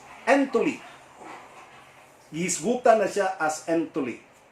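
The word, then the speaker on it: ἐντολή: Matod pa ni Jesus Christ, whosoever therefore breaks one of the least of these commandments, in Greek, it's no longer pronounced as Pentateuch, but it is pronounced as entoli.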